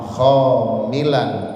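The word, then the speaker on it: خاملاً: Khamil di sini dibacanya dengan menggunakan kha kemudian lam, khamilan artinya munkhafidhan, artinya dengan zikir yang rendah suaranya.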